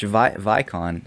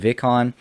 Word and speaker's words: Vicon: He told me how to pronounce Vicon. So I was saying Vicon, but he said it's pronounced Vicon.